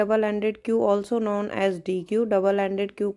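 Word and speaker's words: deque: A double ended क्यू also known as डी Q. Double ended क्यू को हम डी क्यू के नाम से, और जिसे हम प्रोनाउंस करते हैं डैक, तो डी क्यू के नाम से जानते हैं, डैक भी बोलते हैं इसको।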